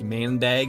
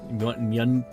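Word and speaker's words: maandag: Is Is it not like Do you guys not really pronounce the A's right there? So, it's not like mandag. It's like mundig.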